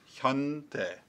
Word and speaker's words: Hyundai: that I've like in 2005 I Sam it's pronounced Hyundai you got it it's a crane words got a tongue that two syllables got it the 2005 Hyundai Elantra Hyundai Hyundai so the reason I didn't want to unlock